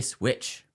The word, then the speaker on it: SWCH: Is the PSA Switch. SWCH is how they spell it.